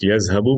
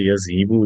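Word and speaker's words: يَذْهَبُ: ہے ہر زبان میں، یہ تو تلفظ سے متعلق ہے کہ لفظ یذہبو بولا جاتا ہے، یذہیبو نہیں بولا جاتا۔ یذہیبو کوئی بھی اگر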